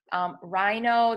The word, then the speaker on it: rhino: Rhino, the H is silent. You only hear the R.